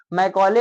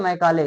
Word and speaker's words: Macaulay: इनके नामिंग नेम को मैकॉले और मैकाले, जो हिंदी में लिखते हैं वो मैकाले बोलते हैं, इंग्लिश में मैकॉले।